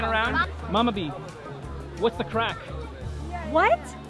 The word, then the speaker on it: craic: it's like gonna cry what's the what's the craic yeah what's that I look that means what darlin what's the crack crack yeah how do you spell that CRA